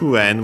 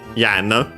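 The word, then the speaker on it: 円: Yen is pronounced like that in other languages because of it's from a past pronunciation of n. Yeah, nowadays with the changes in it has become n in contemporary Japanese, and we have studied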